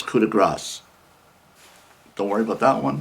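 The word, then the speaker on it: coup de grâce: but you never know uh and most people pronounce it as coup de grace which is the way i've been pronouncing it for years it's kuda grass don't worry about that one because you'll never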